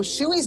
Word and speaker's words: Shui: a few names in here that I couldn't pronounce it okay so shuey's body was discovered about four months later on